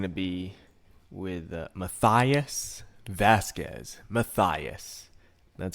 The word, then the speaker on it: Mathias: interview is going to be with maias Vasquez maias that's how you pronounce his name and I have a feeling